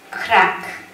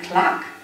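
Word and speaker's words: Clark: 아버지께서는 발음이 잘못된 것을 눈치채시고 크라크 클라크 크라크 아 제너를 클락크 투유의 발음으로 시범을 보이시며 자네는 갈자격이 없구만 하고 조크를 하시며 L과 R알 발발음을 정확히 하라는 뼈 있는 조크를 하셨습니다.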